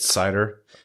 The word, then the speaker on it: Seider: will probably be our episode titles more it's cider unless we've actually seven I have to give credit to a few people who tweeted that at us but no cider it is just gonna be the simple one